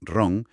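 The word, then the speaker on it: 榕: Dice, el baniano, que en chino es rong, es tolerancia, que también se pronuncia rong, porque da cobijo a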